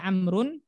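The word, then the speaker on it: عمرو: amrun wine aomaru ya Jadi kalau ada Wow itu dibaca amrun kalau enggak ada dibaca Umar Aina amrun Naina umaru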